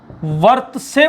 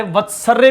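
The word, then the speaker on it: वर्त्स्य: और मसूड़ों को संस्कृत में वर्त से बोलते हैं, बहुत सारे वत्सर्य भी बोल देते हैं, लेकिन सही उच्चारण वर्त से होगा, वर्त से।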